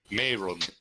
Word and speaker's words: Marion: How do you pronounce your name? Mayron.